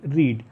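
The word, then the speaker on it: read: जैसे वर्ब होती है आपकी आर ई ए डी रीड। Second form होती है spelling R ई ए डी है। लेकिन बोला रेड जाता है।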